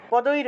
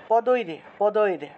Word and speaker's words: পদৈর: রহ আছে না পদৈর র টাকে আমরা পূর্ণ উচ্চারণ করলাম না এক্ষেত্রে পদৈর উচ্চারণ করেছি পদৈর পদীর উচ্চারণ করায় র